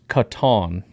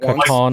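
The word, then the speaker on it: Kitan: 84 in coverage too his first name is pronounced Katon yep all right I said that Katon oladapo sword right that's what I love about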